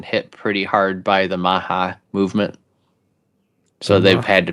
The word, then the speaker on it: MAHA: Maha. It's not like Robert meme, Kennedy is it? Jr. thing. Brian's going to look it up. Yep. Maha.